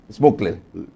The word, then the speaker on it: Smukler: Es fácil, es como se lee. Smukler.